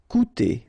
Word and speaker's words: coûter: Coûter, okay, keep in mind that even if you've got this accent circumflex on the top of U, it doesn't change the pronunciation, so it doesn't change this combination of two vowels here, so it will be OU, okay, coûter.